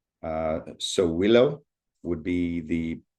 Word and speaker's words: Sowilo: And for the letter S, uh Sowilo would be the pronunciation of the symbol.